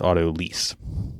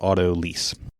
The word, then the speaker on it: autolyse: see what they say well according to Reddit they site Alton Brown and I would trust him I think for knowing how to pronounce this especially as it relates to food and baking and all things Chef related that it is auto lease okay see so that's